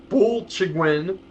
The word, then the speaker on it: Bwlchgwyn: One of the town names is Bulchigwyn, which is literally spelled Bwlchgwyn, which is that's very hard to pronounce.